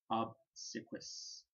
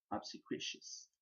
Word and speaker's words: obsequious: most apt to be obsiquis suquitious and i have pronounced that one um wrong too obsequious and i'll try to